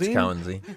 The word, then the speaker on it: Kawanzine: But they can see the issues in comms with Kwanzine at least, or Kawanzine. My bad. I'm saying it wrong. Kwanzine. I really appreciate all. Is it Kwanzine? No, it's Kawanzine.